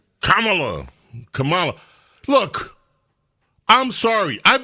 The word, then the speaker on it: Kamala: mispronounce her name it's Kamala Camala look I'm sorry I've been calling her Camala for years and and I meant no disrespect that's the way her name looks if you went to